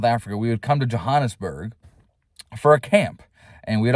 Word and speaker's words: Johannesburg: And we would drive 12 hours north to Johannesburg, all right, or Johannesburg for all of us Americans and how we pronounce it.